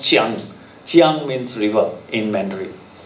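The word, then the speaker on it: Jiang: Now, Kiang is actually pronounced Chiang.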